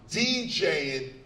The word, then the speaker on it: DJing: The G is not missing. THIS IS HOW YOU SAY THIS. RIGHT. In fact, you say DJing, cutting, mixing, scratching like you would say violin or berlin or penicellin or any of the ends.